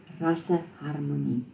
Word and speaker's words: rasseharmonie: And it's for racial harmony, vir rasseharmonie. Vir rasseharmonie. As you can see, the accent is on the nie, not on the haar, as in English.